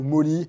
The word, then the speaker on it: MOLLE: Autre chose qui est pas mal avec ce genre de sac à dos, c'est le nombre de passants molles ou molly, en fonction de comment vous l'appelez.